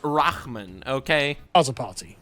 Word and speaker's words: Rahman: It's pronounced Rahman, okay?